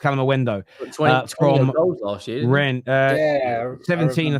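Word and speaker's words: Kalimuendo: Calendo is pronounced Calamendo last year.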